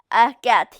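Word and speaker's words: Atget: Remember that this one, don't forget the French pronunciation, Erguet here.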